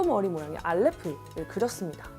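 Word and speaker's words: אלף: 알레프는 에 발음으로 A랑 발음이 유사하다고 생각하시면 되고 위치에 따라 묵음으로 발음이 되기도 합니다. 우리나라 한글의 이응과 비슷한 원리라고 생각하시면 됩니다. 이 히브리어 알파벳들은 그림을 따서 만든 상형 문자입니다.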